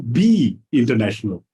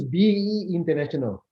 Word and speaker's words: BE International: Is it BE International or B International? It's BE International.